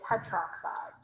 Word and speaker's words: tetroxide: is four tetra but we don't put the a because putting an a and an o next to each other it's really hard to pronounce so we just say it tetroxide but i would never